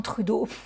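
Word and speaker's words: Trudeau: Je vous le dis à la française, il y en a plein qui m'ont repris. J'étais pas certaine pour moi quand tu es canadien, tu prononces à l'américaine. C'est si tu es québécois que tu pronces à la française.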